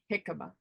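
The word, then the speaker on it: jícama: JICAMA, pronounced jicama.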